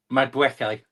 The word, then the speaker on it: Madueke: Madueke.